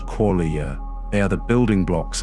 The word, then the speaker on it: qualia: These inner experiences, raw, subjective, personal, are called qualia, pronounced qualia.